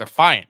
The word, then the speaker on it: affiant: Oh, so it's Affiant. Dude, I was pronouncing the fuck incorrectly. I was like affiliate or some shit like that. I was pronouncing this terribly.